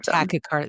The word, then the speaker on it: tachycardia: tachycardia.